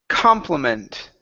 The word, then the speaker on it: complement: We also want to work on the word complement. Okay, the stress is here at the end.